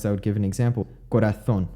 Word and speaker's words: corazón: Corazón, which has a Z, has the theta sound, corazón.